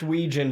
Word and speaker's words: Wetjen: Officer Chelsea Wetjen of Madison Police Department. Fuck Yep. you. Yeah. Wetjen. Jen. It's pronounced Weejen, but we call her Wet We call her Jen. Wetjen. Wetjen. It's spelled like Wetjen, so And She still work there?